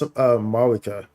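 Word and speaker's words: Mavuika: It's pronounced Mauvika. So like the V is more like a W sound.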